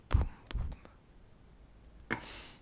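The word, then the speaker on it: Bum Bum: Je viens de voir que ça se prononce poum poum.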